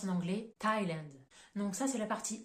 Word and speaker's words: Thailand: vous donne pour le pays Thaïlande ça se prononce en anglais Thailand donc ça c'est la partie exception où on